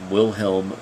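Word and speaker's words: Wilhelm: germany by guy they will helm but it's spelled with W but is pronounced like V and there's a picture of mr.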